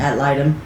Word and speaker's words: ad litem: Ad litem.